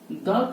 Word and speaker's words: the: यानी कि vocal sound से पहले, ठीक है, यानी कि प्रोनाउंसिएशन दी करना पड़ता है।